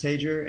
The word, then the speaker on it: Tajer: worries i'm i'm good is uh captain dennis tager and uh i represent the pilot union at american airlines yes i thought so and i was giving you a spanish pronunciation i apologize i just